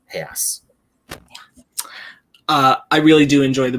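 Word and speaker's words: reais: have one tiny little nitpick, but it's a really dumb nitpick, so I'm not going to go into it. I nitpicked the hell out of it. Go ahead. When Paul Giamatti says 5,000 real, it's pronounced Hayas.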